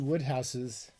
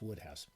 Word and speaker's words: Wodehouse: Wodehouse books, I believe it's pronounced. It's pronounced different than it looks. I think it's Wodehouse.